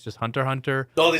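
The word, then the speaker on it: Hunter × Hunter: Or if you really want to get technical, it's Hunter Cross Hunter and Family Cross Fame.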